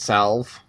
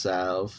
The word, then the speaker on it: salve: been mispronouncing sav i had been saying it salve it's s-a-l-v-e it's pronounced sav so that's one of the horrible horrible english